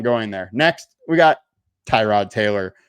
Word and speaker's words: Tyrod: Next, we got Tyrod Taylor, or Tyrod, as Baker Mayfield says how you actually pronounce it.